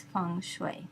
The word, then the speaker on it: Feng Shui: But the standard pronunciation for the art in the United States is Feng Shui. So remember, Feng rhymes with sung, and Shui rhymes with sui.